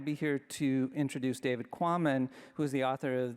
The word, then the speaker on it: Quammen: Sometimes I'm the one with the unpronounceable name. But it's Quammen, and he got that right.